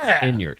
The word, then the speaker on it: Inyart: And by the way, you were saying my last name correct. It's pronounced Inyart.